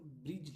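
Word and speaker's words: bridge: डी अगर जी से पहले आया डी साइलेंट होता है। जी से पहले आया डी साइलेंट होता है। जैसे कि देखिए यहां पे ब्रिज लिखा है। क्या लिखा है? ब्रिज बी आर आई डी जी ब्रिज।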